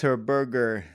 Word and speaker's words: Herberger: Herberger. That rhymes with fur burger.